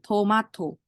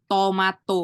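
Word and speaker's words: 토마토: Toma sama kan jadi Tomato itu bukan Tomato bukan tapi tomato gitu berikutnya adalah ini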